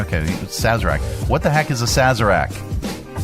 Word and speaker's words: Sazerac: How to pronounce it? Click on that. How? Sazerac. Okay, Sazerac.